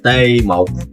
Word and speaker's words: T1: T1 is pronounced Tê Mộc in Vietnamese, sharing the syllable Tê with the word Tê Liệt, which means paralyzed.